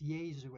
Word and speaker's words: Yesu: put a Y there, it can be pronounced different, the name is different pronunciations, but it's Yesu as done traditionally.